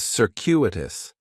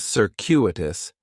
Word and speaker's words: circuitous: And circuitous has four syllables. And there's a few things going on with the pronunciation. In the first syllable, that C is going to have more of an S sound. Circuitous. The stress is going to be on that second syllable. And that cu is kind of like you're saying the letter Q.